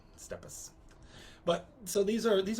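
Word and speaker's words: steppes: people that live on the steps not the steps steps but like planes yeah that's kind of pronounced that steeps i always pronounce the steps i think you were you're probably right could be right it's like tapas but stepas but so these are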